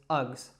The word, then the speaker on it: Uggs: very short word, just Uggs, Uggs. So it's that schwa sound again, and you can almost think of it, it sounds a little bit to me like something that a caveman would say, ugh.